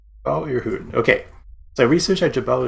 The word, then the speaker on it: Jebel Irhoud: Hank Green pronounces it, so I'll roll with that pronunciation. Jabal Ehud.